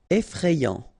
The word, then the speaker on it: effrayant: you fray E effrayé effrayant final not pronounced effrayant amusant pronounced amant